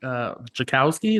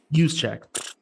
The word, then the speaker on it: Juszczyk: And like there's a reason why they let their fullback, Jakowski, is that how you pronounce it? Juszczyk. Wrong. I'm completely off.